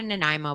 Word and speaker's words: Nanaimo: i know i've never had i've had a nanaimo bar is that how you say it yeah